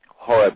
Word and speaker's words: Horeb: um the the the the original word um Horeb was spelled with a c it was c h o r e b and the C was silent uh so in English translation that it became h o r e b but it was pronounced